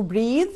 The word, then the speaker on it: breath: لكن لما اقصد بقى النفس يبقى في الحالة دي عندي اسمه breath.